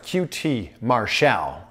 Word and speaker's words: QT Marshall: Yeah, that's how you pronounce it, QT Marshall.